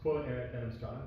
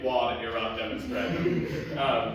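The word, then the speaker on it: quod erat demonstrandum: It's quote Eric Demonstrata. It is, and you pronounce it better than I've been pronouncing it, I assume. I've been pronouncing it quad erat demonstrandum.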